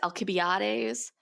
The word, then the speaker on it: Alcibiades: Okay, so it's pronounced a variety of ways. The Greek way is Alcibiades, but most people pronounce it Alcibiades.